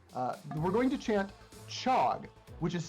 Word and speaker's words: chog: me as well uh we're going to chant chog which is spelled c h o g um so